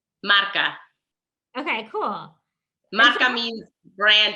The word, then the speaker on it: marca: right mark marketing consulting ah we say it again marca okay cool maca means